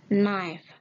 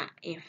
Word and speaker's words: knife: Knife. You can read knife without K. Jadi kamu bacanya tanpa menggunakan K. Hilangkan K-nya kalau kamu baca atau sebut knife, bukan naif, oke? Tetapi knife, pisau.